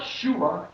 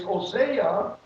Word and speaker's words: Hosea: writing of the scribe so it's hosea oseah it's not shuma it's hosea it is you can